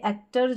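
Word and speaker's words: actor: आप कहेंगे एक्टर जो है इसमें ओ है, इसको अ पढ़ रहे हैं, और साथ में आर है, अर या अन, जब एन है तो अन बन जाएगा, आर है तो अर बन जाएगा, ऐसे भी याद रख सकते हैं।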